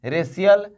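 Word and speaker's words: racial: तो क्या सोकियल पढ़ेंगे? फेकियल, रेकियल? जी नहीं, सोशल, फेशियल, रेशियल, ऐसे होता है।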